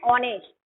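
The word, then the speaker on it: honest: एन ऑनेस्ट, ऑनेस्ट नहीं बोल रहे हैं हम, ऑनेस्ट बोल रहे हैं, है ना।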